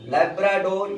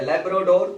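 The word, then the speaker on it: Labrador: लैब्राडोर या लैब्राडोर दोनों बोल सकते हैं। प्रोनाउंसिएशन पर क्लाइमेटिक इफेक्ट काम करता है, उस पर बहुत परेशान होने की जरूरत नहीं है।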